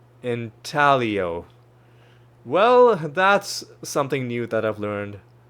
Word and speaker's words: intaglio: I had a feeling that the G was going to be silent. Intaglio.